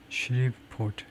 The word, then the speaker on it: Shreveport: 그 발음이 어떻게 되는지를 대충 뭐 스펠링이 이런 것 같은데 가지고 발음을 좀 들어보려고 그러면은 Shreveport. Shreveport라고 그러네요. Shreve 앞에다 액센트를 주고 Shreveport 아주 쉽게 발음을 해놨네요.